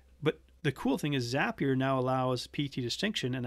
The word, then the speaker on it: Zapier: zap here um is some people call it zapier i call it zapier because they say zap here makes you happier um that's that's their